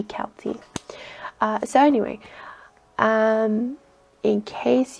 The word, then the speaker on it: Celty: show they call her celty but if you pronounce it like the irish it should be kelty so anyway um in